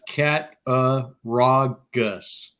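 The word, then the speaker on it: Cattaraugus: my own uh and JW has it phonetically out it's cat uh raw Gus okay so if you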